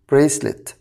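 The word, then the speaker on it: bracelet: اسوره خلي بالك بقى حرف السي في ناس كتير بتتلخبط فيه حرف السي يا شباب النطق الاساسي ليه هو زي صوت الكي لكن بقى اذا جه بعده اي ركز كده او اي او واي هنا بقى لازم انطقه زي صوت الاس فاقول بريسليت بنط هنا زي صوت الاس ليه عشان جاي بعد منه حرف الاي طيب بعد كده عروسه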